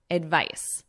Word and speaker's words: advice: Advise, advice. So notice the pronunciation difference. Advice, advise.